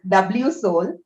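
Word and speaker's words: WSOL: do you pronounce it so it is w soul so what happened was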